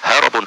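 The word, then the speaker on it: هرب: bukan hirab harbun peperangan Adapun kalau menggunakan huruf ha ro ba bacanya bukan hirab tapi harabun artinya lari Nah di sini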